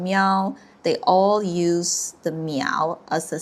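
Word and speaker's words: 喵: it pronounced as meow and is the Chinese sound word for the cat.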